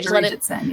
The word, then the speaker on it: Arijit Sen: Arijit Sen. Is that how you pronounce her name? Okay, Arijit Sen, yes.